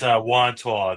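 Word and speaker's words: Wantagh: Yeah, it's Wanto. That's how to pronounce it.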